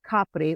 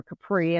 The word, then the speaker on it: Capri: Of course, most people are familiar with Capri, or Capri as the Americans pronounce it.